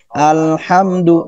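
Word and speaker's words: الحمد: Alhamdu. Jadi alhamdu baca alhamdu, alhamdu, tidak dibaca alham mohon maaf ya, tukang tahu bulat. Salah. Alhamdu. Nah, tidak boleh dibaca alhamdu. Alnya ditahan terlalu lama.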